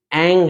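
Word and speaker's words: ऐं: में रखना है कि जो एंग है रिंग है क्लिंग है सब में ग का उच्चारण देना है जैसे एंग है ना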